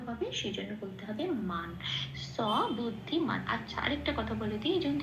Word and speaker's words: স বুদ্ধিমান: সাথে জুড়ে উচ্চারিত হবে সেজন্য বলতে হবে মান স বুদ্ধিমান আচ্ছা আরেকটা কথা বলে দিই সেরয়ের উচ্চারণটা সারেগামা পায়ে যে আমরা সাটা বলি ঠিক